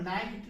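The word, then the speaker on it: night: किसी शब्द के बीच में है, तो यहां पर नाइट नहीं पढ़ेंगे, नाइट, इसको नाइट नहीं पढ़ेंगे, ये गलत हो जाएगा। यहाँ पर नाइट होगा। क्यों? क्योंकि GH जो है साइलेंट हो गया है।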